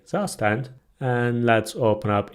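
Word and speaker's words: Zustand: By the way, I know its pronunciation is different. It's a German word, but I'm gonna say Zastand.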